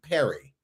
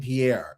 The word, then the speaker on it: Pierre: Sometimes people pronounce my name Perry and I don't that part boggles me. Yeah. I'm like, we have a state capital named Pierre and you are still messing up with that.